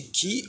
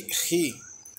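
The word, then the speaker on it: χῖ: Esse ki ele pode ter um som de ki ou de ri. Ambas as pronúncias estão certas.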